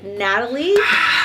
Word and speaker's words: Natalie: This is Natalie. That's how you pronounce the name.